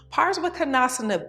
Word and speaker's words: Parivrtta Parsvakonasana: It's pronounced Parivrtta Parsvakonasana, and it has 5 vinyasas, and the Drishti is the fingers, Hastagrai, Drishti. Now let's talk about a few things before we begin. Pars-vah-ko-NAHS-anna B is a very challenging asana, okay?